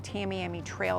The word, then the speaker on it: Tamiami Trail: Another commonly mispronounced road is Tamiami Trail.